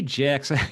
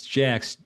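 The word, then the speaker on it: GEX: Yeah, I say Jack. Tracy says, Mark, it's Jax. G X, not J. J A C Ks is gam exposure levels.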